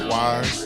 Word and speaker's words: Why-Z: So, I'll start off by saying my name is Wise. It's WH Hy Z. Um, not to be mistaken with W I E.